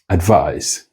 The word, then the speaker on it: advice: Then advice. and advice. Advise is a verb. I advise him to refrain from mentioning the speaker. But advice is the noun is pronounced with the voiceless fricatives.